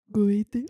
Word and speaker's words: Goethe: Goethe.